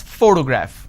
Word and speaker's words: photograph: word has three syllables and i pronounce this as photograph which means i'm stressing on the first syllable but when i look